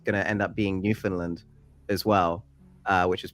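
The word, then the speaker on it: Newfoundland: I keep saying and I keep saying New Foundland it's New Finland yeah sorry it is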